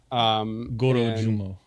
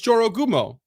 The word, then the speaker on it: Jorogumo: Gorojumo. Goro, one of those. Right syllables wrongly. No, it's Jorogumo. It's with a J.